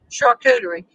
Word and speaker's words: charcuterie: material so last week we had the uh chakuteri program did i say it right tony tony's working with the band at home who's trying to fix her phone um yes he did bro charcuterie so we had four or five friends come